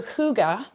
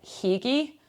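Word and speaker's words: hygge: clo that I can it's the closest that I've gotten to being able to pronounce I feel like what most people in Scotland anyway would probably mispronounce is like hii like h y g g e you know the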